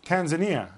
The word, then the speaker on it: Tanzania: Was your pronunciation right or was mine right? It's Tanzania.